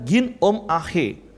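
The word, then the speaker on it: γίνομαι: dengan kata hendaklah nah bahasa yunaninya adalah Gino May kalau pelafalannya Gin Om Ahe Nah kalau memang dalam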